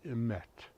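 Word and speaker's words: אמת: The word truth in Hebrew is spelled Aleph, Mem, Tav. The word is emet.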